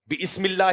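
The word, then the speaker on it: بسم الله: भी है बिस्म का अबे भाई य अलिफ साइलेंट होता है यह बम का पहली क्लास का जो मदरसे का बच्चा होता है ना वो भी हंसेगा इस पर बिस्मिल्लाह रहमान रहीम थोड़ी होता है अलिफ साइलेंट हो जाता है जब शुरू में बा आ जाए तो कोई भी लफ्ज आ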